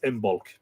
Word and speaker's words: Imbolc: this point of the year was known as imul now that is spelled i b o l c and there